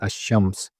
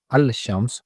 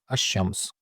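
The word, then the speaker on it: الشمس: Lam is silent here in ash-Shams. It is not al-Shams but ash-Shams.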